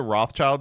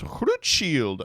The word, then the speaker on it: Rothchild: supposed to pronounce it people keep being like actually your last name is pronounced CR shield and I'm like no it's not shut up I'm an